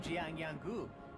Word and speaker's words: Jiang Yanggu: Hi, I'm Jiang Yanggu, and this is Mo Wu.